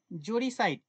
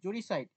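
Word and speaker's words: uxoricide: mother of one's wife জরিসাইড spelling এটা উচ্চারণটা একটু অন্য বানানটা একটু আলাদা ইউ এক্স স্পেলিং হচ্ছে ইউ এক্স ও আর আই সি আই ডি জড়ি সাইড ইউ উচ্চারণটা কি হবে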